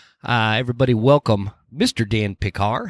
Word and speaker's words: Pickar: remember who it was it sounded like they almost said like Dan picker and I think they just mispronounced it and I got it